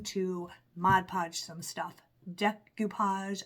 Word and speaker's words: decoupage: mod podge some stuff decupage I always say it wrong I always say decopage decupage some things we're